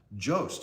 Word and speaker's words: Jost: Okay, say ghost, but instead of saying GH, say J. So Jost is how you say it.